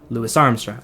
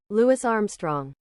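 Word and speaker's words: Louis Armstrong: influential of them all, Lewis Armstrong, which is how I'm going to be pronouncing his name for the rest of the video because that's that's the right way. Lewis Armstrong.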